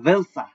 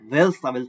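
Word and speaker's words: welcher: ভান মানে হচ্ছে হোয়েন আরেকটা হচ্ছে এটা হচ্ছে ভেলসা ডব্লিউ ই এল সি এইচ ই আর ভেলসা মানে হচ্ছে হুইচ আরেকটা হচ্ছে বিফিল এটা হচ্ছে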